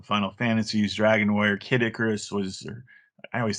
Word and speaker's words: Icarus: fantasies dragon war Kid Icarus was I always say is it Icarus or a carus I always say it wrong I would say Icarus